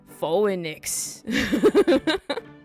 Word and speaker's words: Phoenix: P H E P H O E N I X W R I G HT. There we go. Phoenix. A word that is spelled nothing like it like it said. Phenix English is stupid.